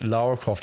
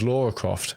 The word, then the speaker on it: Lara Croft: This might just be a me thing, but it also annoys me on the same level as Americans mispronouncing Lara Croft as Laura Croft.